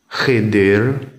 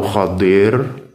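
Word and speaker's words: الخضر: Ya, yang pertama, nomor 1, apakah Khidir atau Khadir? Ya, kalau di tafsir itu rata-rata bacanya Khadir. Kita nyebutnya Khidir, nggak apa-apa.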